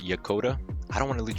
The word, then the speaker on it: Yokota: you the wrong way I think it's pronounced yakota I don't want to